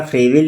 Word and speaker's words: Froebel: William टीह Harris दोस्तों फ्रोवेल का टाइपिंग में थोड़ा फ्रेवेल लिखा गया है। एक्चुअली इनका उच्चारण फ्रोवेल कहते हैं। फ्रो की मात्रा आती है।